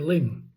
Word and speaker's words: Luing: So, I'd like to move on to ling cattle. And ling are spelled l u i n g pronounced l i n g.